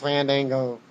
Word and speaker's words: Fandango: Pronounced Fandango. Either way you say it.